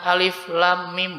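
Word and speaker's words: الم: Jadi bacanya alifnya biasa, pendek, la-nya 6, em-nya 2, mi-nya 6. Bisa ya? Baca bareng-bareng ya. 1, 2, 3. Alif lam mim.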